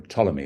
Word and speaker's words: Ptolemy: there was another song about Ptolemy, or Ptolemy as it should be pronounced, and tolerating Ptolemy and all that.